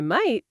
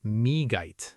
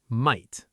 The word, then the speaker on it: might: Don't say me. Listen carefully. Might. The gh is completely silent. Repeat after us. might.